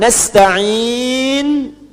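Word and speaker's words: نستعين: Nasta'in dibacanya fathah depannya. Nah, ya. Ujungnya harakatnya u kalau disambung.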